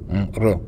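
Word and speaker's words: 热: La lettre R se prononce comme J en français, mais pas comme totalement comme J. Donc c'est un R mélangé de J.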